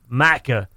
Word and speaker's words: Macca: Because it's pronounced Macca, we write it as a word with a capital M at the start.